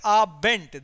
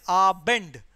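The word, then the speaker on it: Abend: is our Bend but few people say it are bent there's no T at the end there's a d at the end so it is a Bend what is it is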